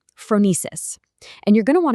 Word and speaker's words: phronesis: Phronesis. It's a Greek word pronounced phronesis, and it's usually translated as practical wisdom.